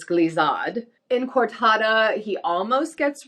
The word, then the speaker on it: glissade: you say them but it is definitely not glazad glazad it's glizzod in cortada he almost